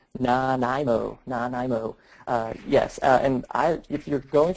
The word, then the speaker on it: Nanaimo: Yeah, and before we do that, I thank you everybody for helping me with the pronunciation. Nanaimo.